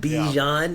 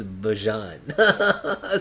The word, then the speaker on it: Bijan: see the interview with Bijan or Bajan, and they asked him how he pronounces his name, and it's not Bijan, it's Bajan.